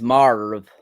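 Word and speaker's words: Maarva: Is it Maven? It's Marv. With Marv, we get a great scene with Marv and Inspector Cyril, I believe his name is.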